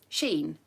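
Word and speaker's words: Shein: pound shop over Primark over everything is from Sheen and um I don't know if you've heard of it some people might pronounce it I don't know it's spelled s-h-e-i-n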